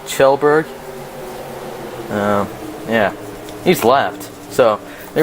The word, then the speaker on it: Kjellberg: Kjellberg, I think it's, I want to say Kjellberg, but it's more like Kjellberg.